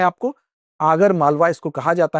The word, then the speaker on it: आगर मालवा: तो याद रखना है आपको, आगर मालवा इसको कहा जाता है। यहाँ पर हालांकि अगर मलवा लिखा है लेकिन इसका उच्चारण आगर मालवा कहा इसको कहा जाता है, ठीक है।